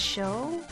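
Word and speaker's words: Chaud: one you suspect me it's pronounced show oh really I'm going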